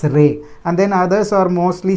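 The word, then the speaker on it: रे: it as re but in hindi they name call it as re they pronounce it as ray and then others are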